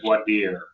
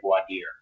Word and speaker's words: voir dire: All right, so next we're getting to jury selection, also known as voir dire.